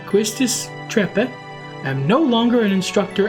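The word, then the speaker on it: Trepe: I, Quistis Treppe, am no longer an instructor as of now. I believe I went with that pronunciation, right? Yes, because we didn't like the trapeze.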